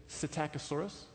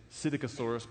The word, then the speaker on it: Psittacosaurus: We found the tail vertebrae from Psittacosaurus. Some say Psittacosaurus, but that's harder for me to say, so I say it wrong.